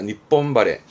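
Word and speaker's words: 日本晴れ: 발음은 니폰바레, 니폰바레. 하레루에 하레부터 바레입니다. 니폰바레.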